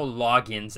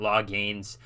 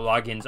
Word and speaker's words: Loggains: offensive coordinator Dowell um from what I understand you pronounce it Dow logins I believe it's you don't really pronounce the a so it's not law gains from my understanding correct